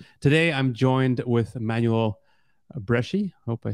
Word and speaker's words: Breschi: It's the Breschi, CH that is pronounced K, I guess, just in Italy or something like that.